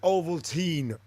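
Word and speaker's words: Ovaltine: medicine clementine valentine overtime i can see where countrymen say that but we pronounce it oval teen cliff williams milo liz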